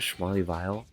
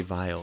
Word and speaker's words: Schmarleyville: He was pronouncing it Schmarleyville, and I was like, what? I don't know. How do you see this and say Vile? There's 2 L's. That's Ville, not Vile.